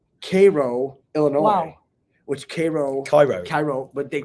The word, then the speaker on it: Cairo: which Cairo, Cairo. but they pronounce it Wow.